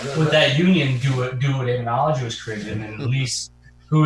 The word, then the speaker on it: Daemonologie: You know, it's pronounced as demonology, but it's Daemonologie.